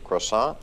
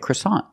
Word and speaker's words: croissant: we call the bread croissant because it's a French name but we pronounce it a little different we pronounce it with the American accent croissant comes from the